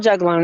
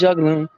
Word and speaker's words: juglone: It's spelled juglone. That's how I say it. It's juglone.